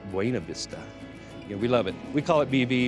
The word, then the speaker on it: Buena Vista: Colorado for some reason some people ask how you pronounce the town Buena Vista actually it does mean beautiful view but the newcomers when you see them come in they know it's wayna Vista yeah we love it